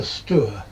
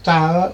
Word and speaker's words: Stour: angry Essex folk that the river is pronounced Stour or Stour or something, but it looks like Stour to me. And I think Stour makes it sound like the river that goes through Stourbridge.